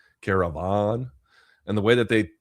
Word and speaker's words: Karavan: It's spelled Karavan, Caravan.